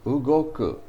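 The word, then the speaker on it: 動く: use this kanji but when it's a verb it's pronounced ugoku ugoku ugoku means to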